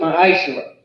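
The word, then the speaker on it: מעשר: Means tenth in the Hebrew and is pronounced ma'ashera.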